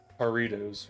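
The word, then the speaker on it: Jarritos: Is the J supposed to be more pronounced like an H? Is it like Harrios? I'm just mixing jar and Doritos. The J is pronounced like an H. Okay, that's what I thought. So, Aritos, right?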